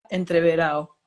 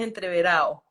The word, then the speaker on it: entreverado: La pronunciación del diccionario es entreverado y la ¿verdad? pronunciación de la calle, del llano, es entreverado.